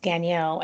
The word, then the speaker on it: Gagnant: that's g-a-g-n-a-n-t it looks like gagnant but it's pronounced danielle and it's winning in french i speak pretty